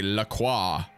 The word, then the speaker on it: La Croix: It is a La Croix.